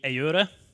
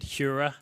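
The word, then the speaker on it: Heura: So it's technically Eura. In the UK, we've kind of accepted Hura will be the way people will say it.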